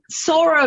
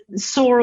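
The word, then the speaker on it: psora: the syphilis you know sora might be the one that nobody questions too much but some of the others even psychosis you know yeah it's spelled with a p yeah whenever i prescribe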